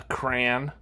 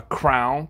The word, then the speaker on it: crayon: If you want to call it a crayon or a crown, that's fine.